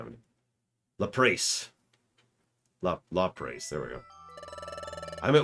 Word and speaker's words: Lapras: what pronunciation I mean? Lapras. Lapras, there we go.